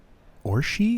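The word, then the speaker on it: Orsi: spaniel Eric a Anderson or she is how that's pronounced that's confusing languages are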